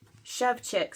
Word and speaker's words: Szewczyk: It's Szewczyk, so I've been saying it wrong on my videos.